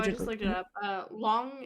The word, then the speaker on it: Lang: Uh, long is a wolf in Chinese.